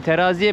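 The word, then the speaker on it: Terazije: Aslında baktığın zaman Tereziye mi, teraziye mi öyle okunuyor.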